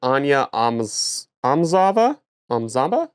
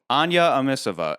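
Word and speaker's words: Anya Amasova: Barbara Bach who plays Major Ana Amzava Zamba. Is that how you say her name? That's not how you say her name. Amisova. Anya Amisova.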